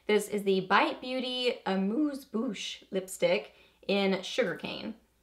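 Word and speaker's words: Amuse Bouche: is the bite Beauty a moose Boosh lipstick in sugar cane apparently you have to say it like that a moose Boosh so here is what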